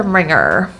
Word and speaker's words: ringer: and then er singer and the same goes with other very similar words like ringer so just push the ringer ringer ring would i say ringer